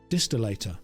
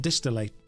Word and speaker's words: distillator: and find Elena's distillator distillator is how that should be pronounced not not distillate distillate oh no make Apollo